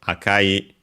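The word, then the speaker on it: 赤い: to the noun aka, and so akai unaccented, the adjective, and put it before the noun.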